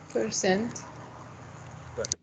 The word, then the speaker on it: percent: Percent. Percent, right? Percent, the word stress is in the second syllable, percent.